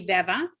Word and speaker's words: Veva: Most people call me Veva. If you do happen to say Viva, just say Veva afterwards, and I'll take it as a compliment.